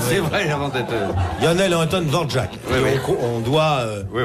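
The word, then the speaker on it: Dvořák: Dvorak. Ça se dit Dvorak. Enfin, si ça vous se voulez prononce l'appeler Dvorak.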